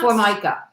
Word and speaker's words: Formica: Is that how it's pronounced? Yes, Formica.